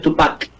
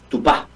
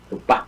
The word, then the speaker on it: Tupá: No es Tupac, Tupá, guaraní, Tupá, con acento en la A.